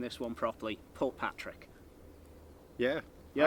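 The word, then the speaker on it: Portpatrick: Port Patrick. Yeah, I say a wee bit quicker because to me it's one word, but Port Patrick I call Patrick.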